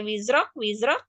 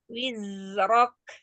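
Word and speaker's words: وزرك: Ya, jangan sampai wizrak. Zai dialirkan terlebih dahulu, jangan sampai ke huruf sebelahnya, bukan ini. Alirkan dulu, kasih durasi panjang pada rokhwah zai, wizrok. Ya, tidak boleh wizrok, tapi wizrok.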